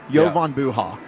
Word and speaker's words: Jovan Buha: Oh, he actually puts pronuncer in here. Jovan Buha.